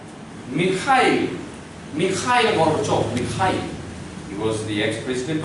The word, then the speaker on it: Mikhail: This is M, this is I, this X, they pronounce it H. So like this. H, and this is A, and then this is I, and this is L. Mikhail Gorbachev.